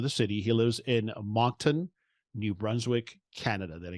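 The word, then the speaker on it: Moncton: he lives let me see if I don't butcher the name of the city he lives in monton New Brunswick Canada did I get that right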